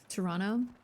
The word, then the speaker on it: Toronto: You don't pronounce a second T in Toronto. Toronto.